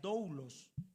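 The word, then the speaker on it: δοῦλος: Servir en la Biblia, en la Biblia, dentro del idioma griego, la palabra siervo se traduce con una palabra que se pronuncia doulos.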